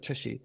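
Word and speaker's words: tshy: It's like TypeScript hybridizer, Tushy.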